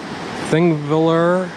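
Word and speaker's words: Þingvellir: plan somewhere around here thingviller i believe is the the way you pronounce this the national park was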